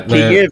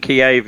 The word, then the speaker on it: Kyiv: Kyiv if you're Ukraine, Kiev if you're Russia. But Kyiv.